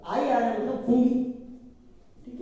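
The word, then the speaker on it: fungi: English में इसको कहते हैं फंगी, पढ़ने में इसको फंजाई पढ़ते हैं, लेकिन रियल जब इसको प्रोनाउंसिएट करोगे आप तो इसको फंगी पढ़ते हैं।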